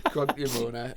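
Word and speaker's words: Cronk-ny-Mona: I pronounce it as Cronky-Mona.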